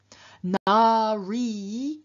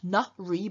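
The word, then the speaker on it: नारी: Na-ri, woman, is based on nara, man. Notice it's not na-ri, but na-ri, so we have a long a in the first syllable.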